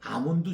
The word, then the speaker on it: almond: ALMOND인데 L이 묵음입니다. 영어에서. 그래서 여러분들이 알몬드라고 발음하지 마시고 알몬드라고 하는 분은 영어를 제대로 못 배운 분들이에요. R이 아니고 R은 묵음입니다. R을 길게 하세요. 아몬드입니다. 아몬드. 네. 그래서 이 아몬드 줄기입니다.